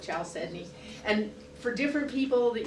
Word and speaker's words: chalcedony: I'm very phonetic, so it's spelled C-H, I call it chalcedony.